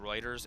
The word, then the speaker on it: Reuters: Reminds me, unimportant, but Reuters is pronounced Reuters.